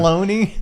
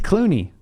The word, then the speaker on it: Clooney: wanted to say Clooney, and I said it wrong. Cloney? Clooney.